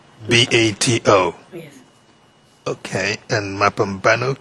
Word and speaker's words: Mapambano: Okay, and Mapambano, can you help spell that? M-A, you say? Mapambano. M-A-P-A. P-A. And then N-O. That's M-A-P-A B-A-N-O, you say?